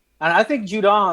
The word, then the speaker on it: Judon: The guy from Baltimore, Matthew Judon. Yeah, Judon. Sorry, I almost say a Juke for him too.